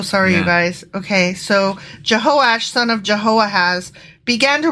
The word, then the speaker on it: Jehoash: Then his son Jehoahash became Jehoahash? Jehoahaz. Went from Jehoahaz to Jehoahash? No, you know what? I apologize. I mispronounced that. It's Jehoash.